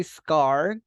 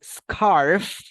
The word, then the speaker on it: scarf: this is scarf be careful with the pronunciation of this one okay because as you can see we have a letter F here if you say scar you're saying umatris scar like this movie Scarface Scarface so in this case scar is and scarf is this teacher can